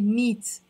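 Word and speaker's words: مية: to say 100 tables, so alone I say miye. But with when I mention the object that I'm counting, I have to pronounce the te marbuta in a way that I say meat.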